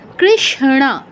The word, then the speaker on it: কৃষ্ণ: উচ্চারণটা কেমন হবে, শতে টাচ করে ন পূর্ণ উচ্চারণ, কৃষ্ণ, কৃষ্ণ, কৃষ্ণ এরকম।